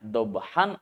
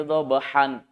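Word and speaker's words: ضبحا: Wal adiyati dhabha, maka membacanya jangan baca wal adiyati dhabhan, tapi dhabhan ini kita baca menjadi dhabha, dipanjangkan. Bukan lagi fathatain tetapi dibaca hanya satu fathah saja. Dhabha dibaca dua harokat.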